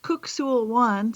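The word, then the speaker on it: Kuk Sool Won: It's um actually pronounced cookul one for anybody who's out there who practices this that it looks like cuck but it's ku one.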